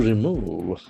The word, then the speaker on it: remove: To remove, REMOVE. So that is a very important verb that is in its infinitive form. So there are two syllables. Remove. Remove, that's falls on the second syllable.